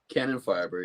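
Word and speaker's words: Kanonenfieber: That's how you pronounce the name, Cannon Fiber, right? Cannon Fiber, yeah.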